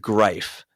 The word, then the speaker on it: Greif: Oh gosh, I think it's pronounced Greif, but Grief? I think it's pronounced Greif, but it looks like grief, and it's so on point for the Jackets to name a sponsor, and it's grief.